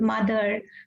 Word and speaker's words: mother: And O is giving schwa sound uh many a times like in the word mother, brother.